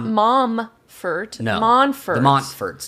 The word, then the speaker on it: Montforts: The Montforts. Technically, it's Mont, but no one says the T. Like mountains.